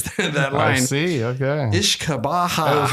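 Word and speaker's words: uisce beatha: Or Ishkabaha is an Irish Gaelic pronunciation and pronounced Oosh Kebe Ya for Scottish Gaelic.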